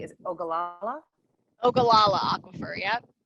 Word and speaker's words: Ogallala: So teach me right quick, how do I say, is it Ogallala? Ogallala aquifer, yep. Ogallala. Oh, wow. Just like it said, like it's spelled.